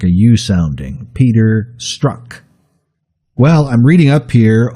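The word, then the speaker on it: Strzok: peculiar spelling st r:z okay but it is pronounced struck within you almost like a you sounding Peter struck well I'm reading up here on agent struck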